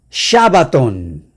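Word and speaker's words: שבת: Esta es la S, una de las S en hebreo, y cuando tiene el puntito acá en el brazo derecho se pronuncia sh en vez de s, así que es Shabbat.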